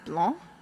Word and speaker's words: Blanc: My last name is Blanc, which has a C on the end of it. But in French, you don't pronounce the C.